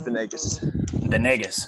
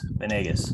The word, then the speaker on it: Venegas: Am I pronouncing that correctly? Yes. Yeah, it's Venegas. Venegas.